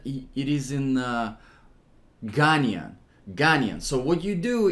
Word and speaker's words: Ghanaian: I'm horrible with geography that's the correct way to say it Ghanaian so it's Ghana so